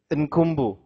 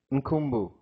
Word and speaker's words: Nkumbu: Kumbu. Do you have to pronounce the N or is the N is silent? Nkumbu. Correct? Nkumbu.